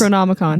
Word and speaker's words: Necronomicon: It's Necronomicon.